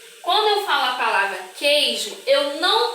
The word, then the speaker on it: queijo: Quando eu falo a palavra queijo, eu não pronuncio a vogal U. Eu falo assim, ó. Queijo. Eu não falo coejo, eu falo queijo.